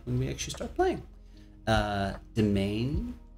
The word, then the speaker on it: Demesne: Domain, I believe that's how you pronounce it, Demesne, is your personal inner dream space.